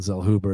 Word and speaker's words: Zellhuber: on mexico's daniel zellhuber who was 12-0 danielle zell hoover is how you pronounce it actually currently they got it where's this at danielle zell hoover minus 300 the comeback on trey ogden's plus 250.